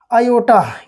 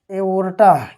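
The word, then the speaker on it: aorta: सी होती है भाई, तो आप क्या बताएंगे, आयोटा। क्या होता है भाई, आयोटा, या इसी को हम लोग कहते हैं एओर्टा। क्या कहते हैं, एओर्टा, या इसी का प्रोनाउंसिएशन करते हैं हम लोग ओटा।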